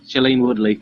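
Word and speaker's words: Shailene Woodley: oh it's uh well how do you pronounce the name Shalini Chilean yeah chalene Woodley chalene Woodley it's slim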